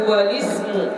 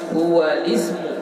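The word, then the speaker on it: هو الاسم: Ya, ingat cara membacanya hamzahnya tidak kita baca. Kenapa? Karena hamzahnya di situ adalah hamzah wasal. Ya, hamzah wasal adalah hamzah yang tidak dibaca saat dia disambung atau ada di tengah-tengah. Jadi hukumnya di sini naqal memindahkan baris hamzah wasal kepada huruf lam yang berbaris sukun. Jadi kita bacanya had apa? Halis hualismu ya.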